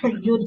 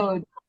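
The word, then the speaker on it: יוד: Then Yud. Yeah. Yod.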